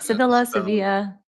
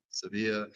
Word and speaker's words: Sevilla: All right, Sevilla. Yeah. Sevilla.